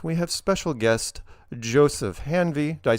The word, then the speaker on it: Hanvey: the lower right we have special guest Joseph hanvy did I pronounce that right hanvy perfect correct we'll get to later so shut